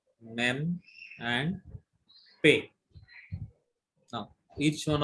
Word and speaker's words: Mem: Beth, Mem, and Pe. Now, each one of you pronounce this letter. Beth, Beth, Mem, Mem, Pe.